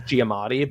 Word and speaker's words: Giamatti: I Oh know his yeah, name is Giamatti, but I think it's funny to say his name wrong.